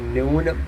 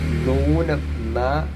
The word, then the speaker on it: നൂനം: ന്യൂനം അതിനർത്ഥം കുറയക്കുക എന്നാണ് ഇവിടെ നൂനം നന്നായിട്ട് പറയണം നാന അല്ലാതെ നാന അതൊരു സിനിമവാരിയുടെ പേരാണ് നാന അതുപോലെ നൂനം എന്ന് പറഞ്ഞാൽ കുറക്കുക ഇവിടെ നൂനം എന്ന് പറഞ്ഞാൽ തീർച്ച ഉറപ്പ് എന്നാണ് വല്ലാത്ത കൃഷമസകാതികൾ അത് കണ്ടിട്ട്